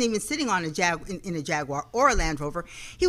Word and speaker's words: Jaguar: And of course, I'm going to make sure I say it right because I've already said it wrong a couple of times to Rick before the show. It is Jaguar Land Rover of Las Vegas.